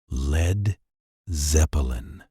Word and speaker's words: Led Zeppelin: They adopted it, dropping the letter A from lead to prevent mispronunciation. Led Zeppelin.